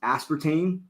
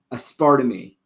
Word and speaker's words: aspartame: There's this whole thing where I used to pronounce aspartame aspartame. Awesome. Don't ask me why. I think it's because of Spanish.